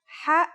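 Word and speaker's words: حاء: no counterpart in English it sounds like the sound you make when trying to cool your mouth and throat after eating something very spicy the closest English counterpart to the sound is H the only difference is that it comes from a point deeper down in your throat just like this try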